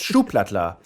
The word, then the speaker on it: Schuhplattler: the name here at German soup platter yeah that's very close yeah that's it that's right yes schuhplattler and a schuhplattler so